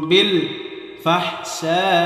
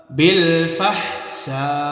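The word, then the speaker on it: بالفحشاء: ওয়ায়ামুরুকুম বিল ফাহশা, বিল ফাহশা, 4 আলিফ টান হবে।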